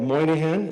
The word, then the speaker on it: Moynihan: Hi again, Moynihan is how you pronounce my name, for anyone who cares.